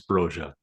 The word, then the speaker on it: Broja: pronunciation there because uh Albanian it's broya broa bro broa came out on the the club website and said it's broa so uh take your